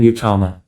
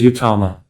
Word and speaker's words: uttama: Prabhupada's books clearly state that the guru must be an uttama. What does the word uttama mean? It consists of two syllables. Ut and tama.